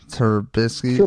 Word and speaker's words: Trubisky: I have to like spell that Trubisky in the description. True. Just think True Bisky without an E.